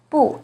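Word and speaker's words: 不: very very common but you may notice that their tones change when they come before certain words for example is the second rising tone in but it's the fourth falling tone in buhao e as in number one is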